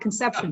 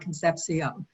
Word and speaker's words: Concepcion: that's a different process we don't want to talk about conception today but we can talk about concepcion i want to start